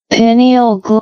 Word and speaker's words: pineal: Uh so the penal gland or uh let's see the pronunciation pineal or pineal gland or canarium.